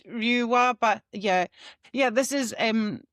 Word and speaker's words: Lua: Well, it's Lua, but yeah.